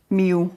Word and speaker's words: Millau: Millau, or Mille if you're French. If you can say it properly.